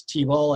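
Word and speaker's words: Teabowl: pronunciation of your name so it's t-ball as in t-e-a-b-o-w-l is that correct all right wonderful if you could just spell it that way that's true that's true i always tell people it's t-ball t-ball yeah okay oh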